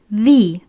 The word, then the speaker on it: the: Is it the or the? What do you think is the correct pronunciation? Well, I'll explain it now. The التلفظ الصحيح لهاي الارتيكل هي sometimes we say the and sometimes we say the.